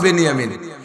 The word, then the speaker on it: বিনিয়ামিন: 2 ভাই, ইউসুফ আর বিনিয়ামিন। বনিয়ামিন না, একটু উচ্চারণ শেখেন, বিনিয়ামিন শব্দটা কি গন্ত? বিনিয়ামিন। আর বনিয়ামিন কেউ নাম রাখলে বনিয়ামিন বললে বিনিয়ামিন। বিনিয়ামিন 2 ভাই, আর ওনার সৎ ভাই 10 জন, মোট 12 ভাই।